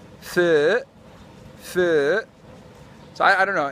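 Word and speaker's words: phở: Most people say pho, because that's how an English person would read P-H-O. And then I mentioned in another video that I heard somewhere, I think on a TV show, that the correct pronunciation would be pho.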